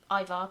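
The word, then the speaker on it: Ímar: A certain Viking leader called Eimar, or Ivar, pronounced like Ivar because the MH makes a V sound, pops up time and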